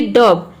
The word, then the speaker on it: dove: यहाँ पे ओ को हम अ प्रोनाउंस करते हैं, ये होता है डब, DOV।